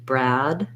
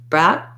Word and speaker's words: Brad: with the letter g i hold that vowel a little longer to so that you can hear that i'm using a d brad brad versus if i hold it too too short brad brat it'll sound like the word brat um even if i'm